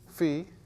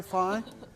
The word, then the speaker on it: phi: letter of what it's a fee is correct pronunciation fee it's a greek letter all right instead you want to say phi right yeah doesn't everybody want to say phi okay phi is an english word and it